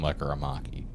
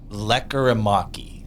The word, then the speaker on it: Lekkerimäki: be part of the deal, and it's Jonathan Lekkerimäki.